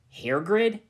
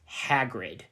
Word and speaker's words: Hagrid: you get in here here grid said Ebony it's me don't you remember it's pronounced Hagrid said the giant whatever hahrid don't you